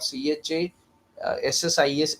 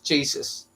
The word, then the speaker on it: chassis: How did we learn that the pronunciation of CHA SSIS is chases? Because our teachers who relied on textbooks, they went for the other similar pronunciation, that would be like CHIR would be chair and CHURCHS church. So they went for the idea that CHASSIS would be chases. But the exact pronunciation of CHASSIS is chassis. So, and why didn't we learn that?